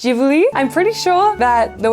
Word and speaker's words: Ghibli: I don't know if it's Jibli. I'm pretty sure that the way you're meant to say it is Jibli, but I've always thought it as Giblly.